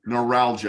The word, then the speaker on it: neuralgia: you for correcting me I said it terribly neuralgia that's okay that's okay Encino Man yes oh